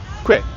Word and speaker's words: koe: But the best way I think to think about how to say it is to take the word question and to miss out the stion.